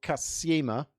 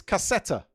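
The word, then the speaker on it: кассета: Turns out it's cassetta, which makes a lot more sense because it is a kind of a cassette. The M is a T sound in Russian.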